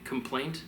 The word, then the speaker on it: complaint: Complaint, two syllables. Compliant, three.